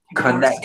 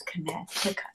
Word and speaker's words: Connecticut: Connect. It's not pronounced like that though. Whatever. It's Connecticut.